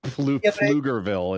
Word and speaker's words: Pflugerville: It's like the silent P at the beginning of Pflugerville in Texas.